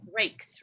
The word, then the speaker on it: Raikes: Jennifer Raikes, is that how we pronounce her name? Lauren Raikes. She is Raikes. Rakes.